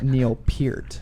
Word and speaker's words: Neil Peart: peart and neil pert but his name is neil peart that's how he pronounces it and says it he's a drummer